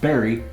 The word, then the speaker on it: bury: It's spelled bury, but it's pronounced berry, just like the fruit.